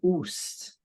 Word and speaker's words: است: We also say oost, right? Because there are long vowel here, so to say uast. In fact, in pronunciation, you're welcome to drop the aleph from ast, and you just say kitabe oost.